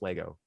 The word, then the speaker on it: Lego: It is pronounced Lego. Anyone who says Legos is wrong.